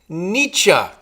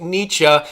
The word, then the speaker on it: Nietzsche: Not Thomas Edison, but I think I have the pronunciation correct here. It's Friedrich Nietzsche. Friedrich Nietzsche.